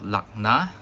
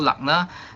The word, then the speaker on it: lagna: so the ascendant is also called lagna this is how it is spelled okay l a g and a so lagna uh is used quite